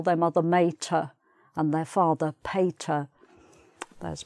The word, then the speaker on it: mater: Although if you're studying Latin, you might pronounce it mater rather than mater.